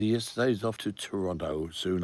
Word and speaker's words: Toronto: yesterday's off to Toronto soon. I told him to pronounce it properly. I said Toronto. See, he was saying Toronto.